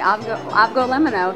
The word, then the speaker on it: Avgolemono: And I'm sure I'm not pronouncing it correctly. You're saying it right. Avgo limono.